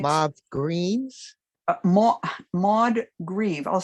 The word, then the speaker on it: Maud Grieve: Maud Grieve, I'll spell it.